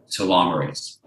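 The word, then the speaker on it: telomerase: called well telomere age which is pronounced too long race now amazingly what Elissa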